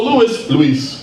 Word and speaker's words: Luis: to fight in meetings, have people call me Luis instead of Louis, then I'll do that nowadays. So Luis, this meeting is not going to continue if you don't say Luis. It's one syllable, Luis.